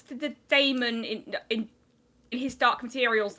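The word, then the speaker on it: dæmon: i always pronounce the damon in in his dark materials that way because it has an ae and if it was meant to be pronounced demon he would have just spelled it like that and not to mention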